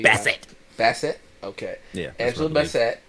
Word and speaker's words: Bassett: There's a scene where Tay Diggs and Angela Bassett, I'm not sure how I pronounce her name correctly. Bassett.